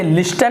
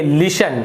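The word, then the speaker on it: listen: और देखिए उसी प्रकार से यहाँ पर भी टी साइलेंट है, यहाँ पर आप इसे लिस्टन नहीं पढ़ेंगे, आप इसे पढ़ेंगे लिसन।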